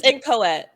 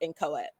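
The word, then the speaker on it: inchoate: sounded like you were saying like no it's in coet like yeah the way you see the pronunciation at the bottom that's how you pronounce it but it's spelled i-n-c-h-o-a-t-e but it's pronounced in coet like incoherent like similarly oh my lord have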